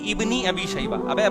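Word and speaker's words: ابن أبي شيبة: शबा साहब बता रहे लोग इसको गलत पढ़ते हैं सही है इबनी अबी शबा भाई इब्नी शबा नहीं है लबनी ये अलिफ साइलेंट है ये हमजा वसलिया कहलाता है इसको लिखा जाता है पढ़ा नहीं जाता ये ऐसा ही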